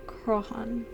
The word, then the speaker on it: Crohan: Pronounced Crohan.